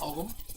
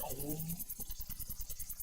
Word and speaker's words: Ogham: Again, pronounced Ogham, the G is silent. It's not Ogham. I called it Ogham for quite a while, but yeah, it's Ogham.